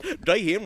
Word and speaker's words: Jayhem: I'm your host, Jayhem, rhymes with Bayhem, Executive Director of Counterintelligence